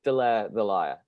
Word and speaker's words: Delaire the Liar: He always thinks you're called the Liar, and I'm like, no, they're Delaire the Liar. So how Yeah. do you pronounce the band name? It is Delaire the Liar.